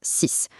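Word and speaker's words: six: L'exemple que tout le monde connaît, évidemment, c'est le chiffre 6. Quand on le prononce tout seul, le X à la fin sonne exactement comme un S.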